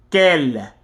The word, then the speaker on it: quel: They are all pronounced the same way, quel, but for the purposes of grammar, they will be written differently depending on whether the